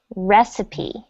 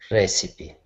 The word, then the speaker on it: recipe: not receipt it's anyone know c okay it's pronounced recipe recipe recipe when you say receipt it sounds like this